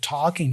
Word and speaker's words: talking: They're saying even na na almost because of talking here. So it's almost like it's going, I'm talking, talking to you, talking to you. We don't pronounce the G for talking there.